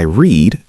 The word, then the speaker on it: read: Today I read sounds like read. Yesterday I read sounds like red, the color.